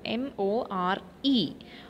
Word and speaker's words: more: it is walk okay second word more m-o-r-e more we will not pronounce the letter e there okay so the silent letter is e m-o-r-e we will pronounce it as more then third one rap